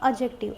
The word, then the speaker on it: adjective: एक बात और याद रखना यह हमेशा कभी भी हम यहां पे डी को प्रोनाउंस नहीं करेंगे। यहां पे हम बोलते हैं एडजेक्टिव।